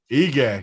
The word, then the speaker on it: Ige: Is that how you pronounce his last name? Ige. Yeah. Ige.